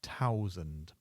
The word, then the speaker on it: thousand: 100 is 100, and 1000 becomes thousand. We drop the H, so thousand.